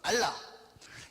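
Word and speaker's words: עלה: 그 알라 쓰나 할 때 발음이 똑같아요. 알라.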